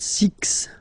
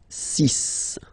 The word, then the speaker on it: six: s okay so it's not six it's sis all right then here